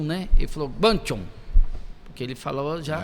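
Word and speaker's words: Guangzhou: Eu falei: "É lá na cidade de Guanchon, né?" Ele falou: "Ganchon, porque ele falou já pronunciando e na palavrado dele lá de chinês."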